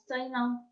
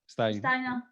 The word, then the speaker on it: Steinem: La Gloria Steinem, no sé molt bé com se pronuncia, Steinem. Algú sap? Steinem. No té més síl·labes.